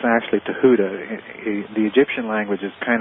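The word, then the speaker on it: Thoth: th o and a lot of people uh pronounce it thof or thof but it's actually Tuda the Egyptian language is kind of like Hebrew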